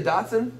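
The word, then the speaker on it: dachshund: do it's you say doson yeah it's spelled Dutch all right what you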